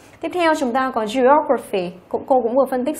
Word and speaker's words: geography: Tiếp theo chúng ta có geography, cô cũng vừa phân tích xong đúng không? Graphy thì trọng âm rơi vào O này, như vậy geography.